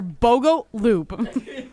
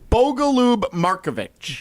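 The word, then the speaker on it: Bogoljub Marković: I literally just wrote on my paper, Bogo Loop. Gross. I'm sorry. So, wait for any of the fans listening. Should we should we pronounce it correctly? How is the actual pronunciation? Bogaloo Marovich.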